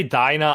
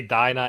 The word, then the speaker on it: Dina: like we could say dinah i used to say dina but they say dinah in the in the